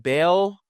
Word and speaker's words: Baal: But the main point is you have the worship of Baal or Baal, however you want to pronounce it, going on in Samaria, the new capital of Israel, and you have the rebuilding of Jericho.